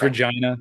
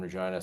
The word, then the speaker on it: Regina: I know it's Regina, but it is the city that rhymes with fun.